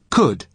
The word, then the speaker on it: could: lost luggage desk uses could you to carolina because he is being polite listen to the pronunciation could could you spell it c-o-u-n but the letter l is silent could now listen to